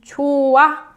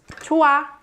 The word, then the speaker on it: 좋아: 좋아, 좋아, 좋아. So 좋아 is the present tense of 좋다. So this one is pronounced 좋다, and this one is pronounced 좋아.